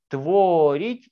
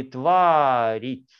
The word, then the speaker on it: творить: «Творить» или «тварить». Буква «О» или буква «А». Вообще произносим «творить».